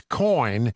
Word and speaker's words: Coign: Coin is America's conservative credit card.